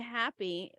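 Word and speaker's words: HAPPE: this long forgotten experiment was named happy and not spell it's h-a-p-p-e which stands for high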